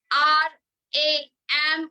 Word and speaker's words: Ram: R-A-M or R-U-M. Whatever you want to chant, but the chant, the pronunciation is Ram.